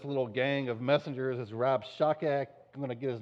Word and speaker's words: Rabshakeh: This is the leader of this little gang of messengers is Rabshakeh. I'm going to get his name wrong 100 times.